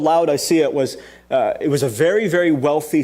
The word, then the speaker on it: Laodicea: And this particular church was known as the church in Laodicea. Laodicea. You should be happy that I pronounced that correctly because it's a doozy of a word.